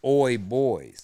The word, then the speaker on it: OY Boyz: Because when you first read OY, somebody may not know how to pronounce that. So I used the font where the O in boys is the same letter with that line under it. So you see that it's pronounced like boys, so it's OY Boyz.